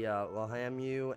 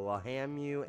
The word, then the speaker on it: Lahamu: And, their names are going to be Lahamu and Lahimu. So, Lahamu and Lahimu. And, just so you guys, you know, heard it pronounced correctly and right, too.